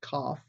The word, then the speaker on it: Qoph: the section called cough you've wondered how that's pronounced cough QoP h cough is the hebrew letter